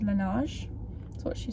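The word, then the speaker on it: Laneige: just called cassidy and you basically pronounced it lanage that's what she said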